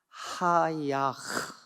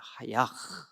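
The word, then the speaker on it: חָיָה: 그런데 요 부흥이라고 쓰여진 원어가 하야흐 이렇게 발음합니다. 하야흐, 하야흐.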